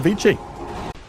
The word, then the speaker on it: Vici: trade out and honestly a bigger kill going the way of Vichi if we go by like quote unquote correct pronunciation.